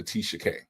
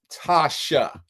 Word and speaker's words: Tasha: I'm a motherfucking gangster, Tisha K. The whole world knows that your dumbass can't even pronounce Tasha. You can't even say the word Tasha. Tasha. Her name is Tasha K.